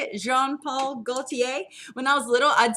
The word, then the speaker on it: Jean-Paul Gaultier: probably gonna say this wrong if someone can john paul gaultier is that how you say it jean-paul gaultier when i was little i'd say john paul